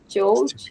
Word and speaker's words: jouj: Joj, so it's pronounced as Joj.